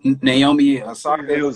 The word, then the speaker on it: Naomi Osaka: Naomi Osaka.